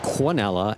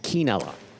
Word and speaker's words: quinella: David Howard, there is a difference between pronouncing it Quinella and Quinella.